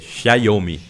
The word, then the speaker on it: Xiaomi: da ASUS, da Huawei, tem que aprender a pronunciar, Xiaomi, né? Porque é como se fosse um tchau em italiano. Omi, Quem me ensina é